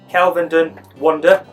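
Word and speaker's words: Kelvedon Wonder: Again, let's go for the pronunciation. It's actually called Kelvenden Wonder.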